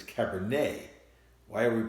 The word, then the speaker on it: Cabernet: and she said Cabernet Franc right but it's Cabernet why are we pronouncing et a why are we pronouncing that